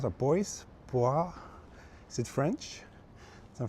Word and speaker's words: Boise: Boise. I see. So that's how you pronounce it. Boise.